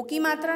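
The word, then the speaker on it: किं: इसे अनुस्वार बोलते हैं, और अनुस्वार का उच्चारण म से किया जाता है। तो हम इसे क्या पढ़ेंगे? किम पढ़ेंगे। ये नहीं कि हम सिर्फ इसको की पढ़ करके आगे बढ़ जाएंगे। यदि मैं इसको पढ़ती हूँ साउचिकः की करोति, तो ये अशुद्ध है। हमको इसका उच्चारण करना पड़ेगा, साउचिकः किम करोति।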